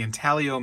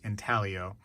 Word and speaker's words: intaglio: right here comes from the intalio mint or intaglio depending on you know the tomato tomato thing i think it actually is pronounced intaglio so that's uh see